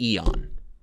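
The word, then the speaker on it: Eoin: This first one comes into us from, it has to be Eon.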